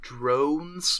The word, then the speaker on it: Droan: It was and the plentiful droidad jokes, oh yeah, or what I dubbed drones, but it's spelled DROAN, like a drone groan.